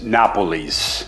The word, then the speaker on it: nopales: Leaf was very cool so uh it's it's Napoles that's how it's pronounced we did Google pronunciation so Napoles they